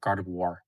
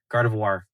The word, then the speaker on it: Gardevoir: Why do I say it like that? Gardivoir like a reservoir. Gardavoir. Gardevoir.